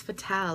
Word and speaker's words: Fatale: French it means fatal and without the e at the end it spells it's pronounced fatal but with the E it's fatal like fem fatal think of it like that so yeah my name